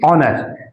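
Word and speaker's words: honour: इसलिए यहां लगाएंगे एन और देखिए इस शब्द में एच साइलेंट होता है ऑनर नहीं पढ़ा जाता है ऑनर एच साइलेंट रहता है इसको नहीं पढ़ते हैं अब आवर आवर आवर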